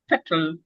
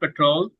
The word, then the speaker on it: petrol: Mall, urban, petrol, not petrol, petrol. When next time when you go to the petrol station, please listen to the pump saying petrol, petrol, petrol. It doesn't say petrol, petrol.